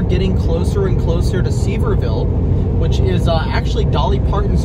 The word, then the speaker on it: Sevierville: So the pronunciation is actually Sevierville. Not Sevierville or Sevierville, it's Sevierville.